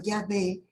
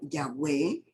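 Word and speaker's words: Yahweh: donde se dice que la pronunciación original de haber sido llave o ya ve entonces puede decirse jehová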